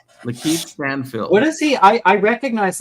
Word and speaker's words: Lakeith Stanfield: You would cast, and how do you pronounce his name? Is it Lakeith Stanfield. Lakeith Stanfield.